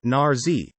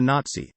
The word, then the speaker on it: Nazi: effect, as when he called Hitler a Nazi, rhymes with Kazi, emphasis on the Z, rather than a Nazi, TS.